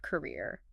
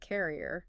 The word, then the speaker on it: career: Let's look at the word career. My students constantly want to pronounce it like carrier.